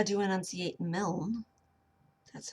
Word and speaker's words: Milne: So I looked up how to enunciate Milne.